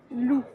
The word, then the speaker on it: loup: Par exemple, lou l o u p. Il n'y a pas de e. On ne prononce pas le P, ça veut dire lobo.